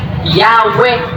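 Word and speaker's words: Yahweh: Because the correct way to pronounce the God's name is Yahwe o tinatawag na YHW na JHW.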